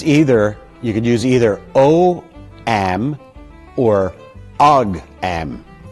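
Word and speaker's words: ogham: That word is pronounced om.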